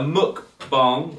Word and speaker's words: mukbang: I think it's spelt bang, but I think it's bong.